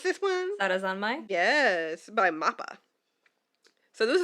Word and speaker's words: Sarazanmai: Lydia, how do you pronounce this one? Sarazanmai?